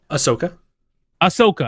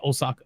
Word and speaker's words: Ahsoka: How do you pronounce her name again? Ahsoka. I always say Osaka for some reason.